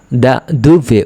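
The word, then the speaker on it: da dove: কোথা থেকে, আপনি কোথা থেকে এসেছেন যদি কেউ প্রশ্ন করে, তখন কোথা থেকে যখন প্রশ্ন করবে তখন কিন্তু ইতালিয়ানরা দা দুভে উচ্চারণ করবে।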